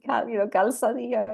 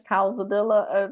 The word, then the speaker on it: Calzadilla: it's Calzadilla in Spanish, Calzadilla if you're not Hispanic.